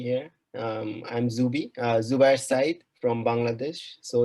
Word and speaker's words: Zubayer Sayeed: for having me here um i'm zubie uh zubair side from bangladesh so it's very difficult to pronounce my name in in japan so i